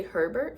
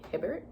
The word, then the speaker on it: Hibbert: Whenever I see her name, I always want to say Herbert for some reason, but it's obviously Hibbert.